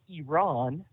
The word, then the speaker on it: Iran: he says I did not realize that correct pronunciation was Iran and he said uh you know we we